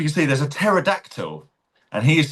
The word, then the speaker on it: pterodactyl: to spell pterodactyl it actually starts with the letter P. It's P T E. Here we go. I'll show you the joke. Why can't you hear a pterodactyl in the bathroom? Because the P is silent.